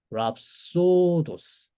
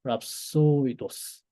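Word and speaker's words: ῥαψῳδός: 그러면은 랍소도 자 여기 5메가 밑에 이오타스크립트 붙은 거 보이세요? 이거 아까 봤던 장 이중무음이지만 밑에 이웃하는 발음을 안 한다고 말씀을 했습니다. 그래서 그냥 랍소도스 랍소도스 난 좀 더 멋있게 하고 싶다. 랍소이도스 하시면 됩니다.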